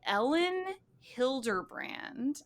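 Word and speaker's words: Elin Hilderbrand: So we are going to pick up 28 Summers by Ellen Hilderbrand, and that's spelled Elin.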